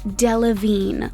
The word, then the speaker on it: Delevingne: of her last name it's actually delevine like the word intervene listen to her closely